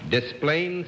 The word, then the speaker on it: Des Plaines: Des Plaines, Illinois? I'm glad you're here. Now I know how to pronounce that name and not get my skull